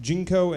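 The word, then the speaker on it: ginkgo: chocolate in them uh the jingko uh yeah that's how it's pronounced jinko and chocolate counteract the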